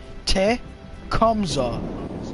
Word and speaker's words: Tecumseh: Tecumseh.